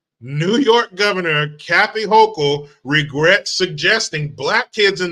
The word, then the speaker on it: Hochul: York Kathy hoko I called her hoto and somebody in the comments was like actually it's hoko whatever I don't I don't have any respect for her so I don't care about saying her name wrong but it is H hoko so I'll try to say it right New York Governor Kathy